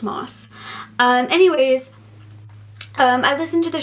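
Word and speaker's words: Maas: the short story collection I said massed at night I met moss it's pronounced moss anyways I listened to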